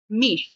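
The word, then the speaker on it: mich: আর এটা কি ই এর পরে আছে তেহাটা, তাই এটা উচ্চারণটা হবে হচ্ছে মিশ।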